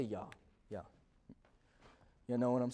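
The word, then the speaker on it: יה: the the Hebrew it's Jah. I mean, maybe it's Yah. I don't I I don't think there's a Yeah, I don't think there's a J pronunciation in Hebrew, but I'll just say Yah.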